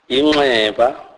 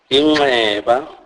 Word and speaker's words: inxeba: NX is pronounced as ngqi. This is a nasalized form of X click sound, e.g., inxeba, inxeba, which means wound.